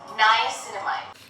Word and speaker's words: niacinamide: Pronounce this word properly. Niacinamide.